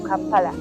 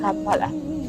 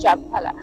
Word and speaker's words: Kampala: So from that, they got the name of the city Kampala. So let us see on the word camp was replaced with letter K, which sounds the same. Otherwise, it could be pronounced as Champala.